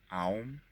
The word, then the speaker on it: Om: The O, the A U in Om, is pronounced ah, a h. Ah, aum. Aum. It is pronounced through the mouth and is drawn out for about 5 seconds.